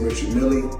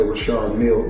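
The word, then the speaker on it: Richard Mille: Now, I must let everybody know cuz everybody pronounce it different. Some say Richard Millie. Myself, I say Rashard Mill because that's what I was told in 2012 when I first purchased the watch.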